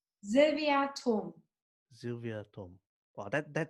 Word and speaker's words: Thom: So most people say Tom, and I've adopted that. So when I'm in Germany, okay, then I use however you pronounce it in Germany, because people are familiar with that and they know then exactly what the spelling is. But here, when I'm answering the phone or whatever, then I say Tom because it's easier for people.